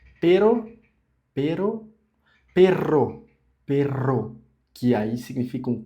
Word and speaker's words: perro: Portanto, todavia, entretanto, pero e perro, pero, pero, perro, perro, que aí significa um cão, um cachorro. Então, perro, dois Rs forte e pero, que é só uma R.